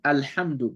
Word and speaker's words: الحمد: But we said Alhamdu because the lam here has a sukun. We said we pronounce the Hamza with the A.